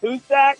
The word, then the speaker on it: Hujsak: the outfielder Miss State his name is husack but it's spelled hujsak like huge back and uh he he